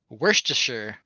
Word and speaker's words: Worcestershire: you pronounce this word Worcestershire but yeah but it's like Worcester if you're from Maryland you say Worcester yeah I'm not even